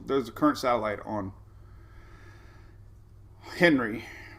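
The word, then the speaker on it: Henri: a current satellite on henry rhymes with does not rhyme with sandy andre so there's uh there's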